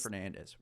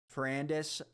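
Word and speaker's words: Ferrandis: I say like Dylan Fernandez Fernandez Fernandez I don't know dude Fernandez is crazy there's no n before the a fernandis I don't know fernandis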